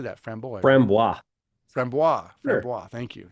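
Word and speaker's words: Framboise: Types of lambic beer include the Goose, the Creek lambic, and the framboy. How do you say that? Framboy. Frambois.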